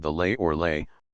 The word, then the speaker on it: Lei: called the lay or lay pronounced like our word lie in the rine and